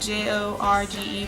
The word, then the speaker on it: Jorge: um some of the stars in that are I'm gonna go with Jorge Garcia because it's spelled j-o-r-g-e but in Spanish it's pronounced Jorge um anyway boy